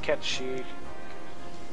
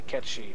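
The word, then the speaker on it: Cait Sith: going to fight you then later and yes kith is supposed to be pronounced K she but uh who gives does anybody pronounce it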